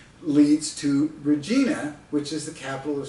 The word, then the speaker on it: Regina: Regina as an American, R-E-G-I-N-A, I'm thinking I would naturally pronounce it Regina. But turns out, I find out later, that Regina is pronounced Regina by Canadians, which rhymes with that female body part, you know, the veg, oh, never mind.